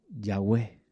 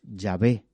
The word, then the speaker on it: Yahweh: Entonces, para el hebreo pusieron a ese tetragramatón, le pusieron vocales y salió el nombre Yahweh, o como así se pronunciaría en hebreo antiguo, o como se lo ve en algunas traducciones, Yahvé.